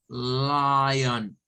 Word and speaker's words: lion: Y miren, el sonido de la ON es un schwa, es un on. No es on, no es lion, no es lion, on. Boca entreabierta, on. Es muy suave.